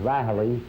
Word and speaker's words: Riley: Uh the proper pronunciation is Riley, but that's the Irish way of saying it, Jack.